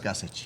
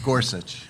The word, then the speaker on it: Gussich: Gussich. Gussich, sorry. If I say it, I'll say Gorsuch. I'm sorry, it's Gussich.